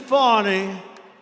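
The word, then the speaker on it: Fani: generals and fonnie fonnie you know fonnie spelled f a n i my name is fonnie f a and I I don't figure it you put a little French accent on the word with her lover Wade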